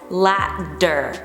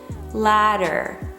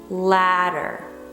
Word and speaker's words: ladder: it down into syllables you have two syllables and the stress is on the first syllable it is important ladder ladder try to lower